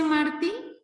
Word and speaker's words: Martí: Maestro, ¿es José Martí? Sí, no, se pronuncia Martí.